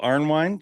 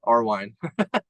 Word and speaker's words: Arnwine: Your legit name is Arnwine, correct? Am I saying it right? Yeah, you got it right. I'm actually surprised you got that right. Most people don't. They miss the N, Arwine.